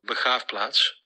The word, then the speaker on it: Begraafplaats: To hear its proper pronunciation, I have to go over to our good friend Jelga. Begraafplaats.